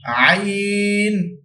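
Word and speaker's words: ع: হারফ উচ্চারণ হয় কি আইন হালকের মধ্যখান এই স্থানটিকে বলা হয় এখানে আমাদের মাঝখানে একটি উঁচু হার আছে এই হারের স্থানটিকে বলা হয় হালকের মধ্যখান এখান থেকে দুইটি হারাফ উচ্চারণ কি আইন আইন আইন হা দুইটি বিষয় আমরা খুব খেয়াল করবো।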